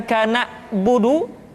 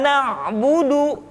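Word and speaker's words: نعبد: Kemudian perhatikan ketika huruf Ain disukun, maka suara kita tidak boleh mati. Contoh, iyyaka na'budu, bukan kana budu, tetapi agak ditekan sedikit, kana budu, iyyaka na'budu.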